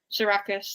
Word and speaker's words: Sarakis: Sarakis, that's how it was in the audio.